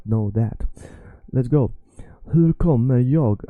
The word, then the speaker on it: hur: Remember, it's not hur, it's not h, it's soft h, h.